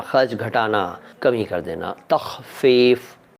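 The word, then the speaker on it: تخفیف: ने पूछा है कि तख फफ का क्या मतलब है पहले तो इसका उच्चारण तख फफ तख फफ का मतलब होता है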